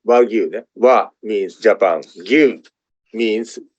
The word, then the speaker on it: Wagyu: Japanese word Wagyu, as I mentioned, pronounced Wagyu.